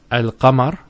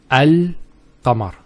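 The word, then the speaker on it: القمر: However, with Al-Qamar, there's no issues with that. And that's because the articulation point of the lam and the qaf are far apart.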